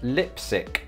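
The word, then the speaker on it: Leipsic: reddit it's actually pronounced lipsic is that right is it similar to lipstick as opposed to leipzig next up is a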